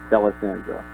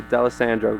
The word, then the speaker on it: D'Alessandro: People usually get confused by the Italian. People just gotta basically pretend like it's not there. Just D'Alessandro. Oh, okay, D'Alessandro, gotcha.